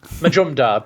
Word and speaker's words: Majumdar: a little Majumdar Majumdar think of it in three syllables module is how I usually try it Majumdar but you could you